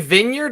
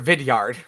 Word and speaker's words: Vidyard: at Vineyard Loom sense are you saying Vineyard or vidyard he's just saying it wrong it's my accent it's